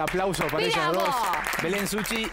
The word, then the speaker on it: Succi: Pero tu apellido es Suchi. Suchi. Porque no podrías decir... Bocchini, por ejemplo, algunos le decían Bocchini. Bocchini. Vos sos Suchi. Acá me dicen Suxi, Sushi, sí, pero es Suchi.